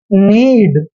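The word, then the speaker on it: knead: छोड़ दो तो यहां हमेशा इसको पढ़ते हैं नीड एन से हो गया न और ई ए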